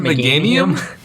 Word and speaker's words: Meganium: Is it Meganium? Yeah. Meganium. Guys, I am known across the internet for not being able to pronounce Pokemon names.